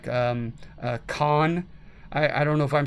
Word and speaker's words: Caen: fight would be like Caen. I don't know if I'm saying that correctly. It's Caen, and I certainly don't know French, but I've heard it pronunciated that way on documentaries.